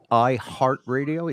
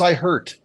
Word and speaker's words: iHeartRadio: there was a How do little you more pronounce that? iHeart? iHeartRadio. Yeah, Oh, I thought it was I hurt.